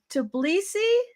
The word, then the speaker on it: Tbilisi: and talk to you all the way from Tbilisi, Georgia. Am I pronouncing that correctly? Yes, exactly. Georgia, Tbilisi is the city, capital city.